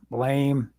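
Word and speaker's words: Blame!: it's on prime it's called uh blame but it's pronounced blam and uh in the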